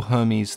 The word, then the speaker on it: Hermes: to him as Hermeha, which isn't too different to how the Greeks pronounce his name today, with the H almost being silent, or sounding more like air. Who we call Hermes, the Greeks call Hermes.